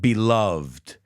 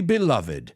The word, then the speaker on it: beloved: And the word beloved, I've heard people pronounce it beloved. I'm going to say what the priest said at my grandma's church. Dearly beloved, we are gathered here today.